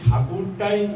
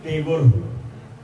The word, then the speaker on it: ঠাকুর: বিলের মধ্যে লেখা লিখল এবং এই ঠাকুরটাই বিকৃত হয়ে ইংরেজদের কাছে টেগর। উচ্চারণের জন্য ওরা ঠ উচ্চারণ করতে পারে না। ড উচ্চারণ হয়। সেইজন্য ওই ঠাকুরটা হল টেগর। এবং এই টেগটাই উনি লিখলেন